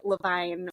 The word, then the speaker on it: Levine: of us and also I pronounce it Levine which is is very confusing and annoying um so just call